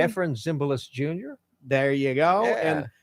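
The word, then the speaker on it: Efrem Zimbalist Jr.: Am I pronouncing his last name correctly? Ephraim Zimbalist Jr.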